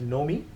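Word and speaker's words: Nomi: that middle screen, and I call it as Know Me. It's spelled as N-O-M-I. It's basically Know Me as a driver, but it's Know Me.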